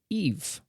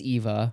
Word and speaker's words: EVE: it came and it is of Wall-E and Eve is it Eva it's eve he says Eva oh but he's mispronouncing it you know on oh wow I've